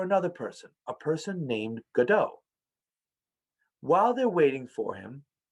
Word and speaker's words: Godot: The playwright is named Samuel Beckett, and the play is called Waiting for Godot. Or sometimes it's pronounced Waiting for Godot. It doesn't matter either way.